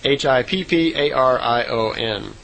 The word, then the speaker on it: Hipparion: And she said the horse back then was called a Hipparion, or Hyperion. I'm not sure exactly how it would be pronounced. It's Hipparion.